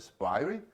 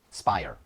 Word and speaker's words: SPIRE: How to pronounce it? Spire? Spire.